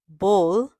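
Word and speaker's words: bowl: बोल मतलब कटोरी। उसको सही प्रोनाउंस करते हैं। बोल। बी ओ डब्ल्यू एल। उसको इंग्लिश में बॉल कहते हैं। कई लोग बॉल कहते हैं या बाउल कहते हैं।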